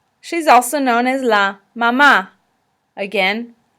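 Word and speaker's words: mamá: also known as la mama again accent is on the second a la mama in this situation the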